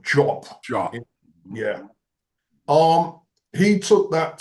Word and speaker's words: Diop: I mean, we say Diop in the English-speaking world, but apparently it's pronounced Jop.